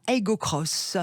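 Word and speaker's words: Aygo X: du jour là toyota ego cross oui on prononce cross sacré rigaud x mais c'est une croix inférieur c'est une croix mais ça se prononce cross parce que toyota voulu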